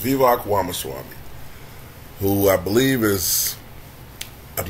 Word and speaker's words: Vivek Ramaswamy: So, Vivek Ramaswamy, I guess that's how his name is pronounced, Vivek Ramaswamy, who I believe is a man of Indian descent, whose parents were immigrants.